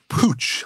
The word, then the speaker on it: Puig: I don't think so Pooch I had never heard it's spelled p UI G for anybody who wants to look it up it's a fascinating